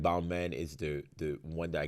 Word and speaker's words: Balmain: like, no, it's not Balmain. It's en français. You say Balmain. Yeah, Balmain. You don't pronounce the N. It's Balmain.